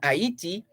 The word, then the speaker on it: Haiti: us this afternoon that haiti haiti or the french pronunciation aiti haiti reportedly wants jamaica to